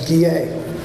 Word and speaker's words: Guillet: I have heard Gillette, Goulet, and then Guillet. I have been asked by Andre's sister Doris to pronounce the last name as Guillet, and I hope I'm saying that correctly.